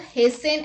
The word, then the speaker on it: hasten: T is not pronounced in these common words. Let's look at the examples. Castle, Christmas, fasten, listen, often, whistle, thistle, bustle, hasten and rapport.